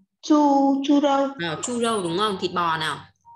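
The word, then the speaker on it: 猪肉: Phải đọc là chu râu nhá.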